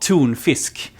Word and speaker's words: tonfisk: tuna to them, because tuna in Swedish is called tunfisk, and tun is the same as tune, and they thought it